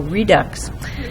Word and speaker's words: Redux: this evening is Depot Redux um Redux rhymes with Deluxe I might need some